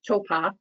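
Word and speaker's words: Taupō: couldn't feel them and towpath which is like hopple but they pronounced Topa is also you all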